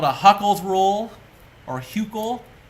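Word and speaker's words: Hückel: So this is called a Huckel's rule, or Huckel. I think someone told me that the U with the dot over it is pronounced Hu with the U sound, oo sound. So Huckel.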